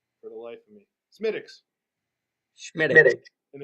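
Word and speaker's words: Smithwick's: It's not pronounced the way it's spelled, and I can't remember it for the life of me. Schmittix.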